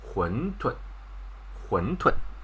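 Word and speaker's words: 馄饨: But the correct way of saying this is like 馄饨.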